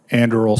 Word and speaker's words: Anduril: Is that how you pronounce that? Anduril, Senator, yes.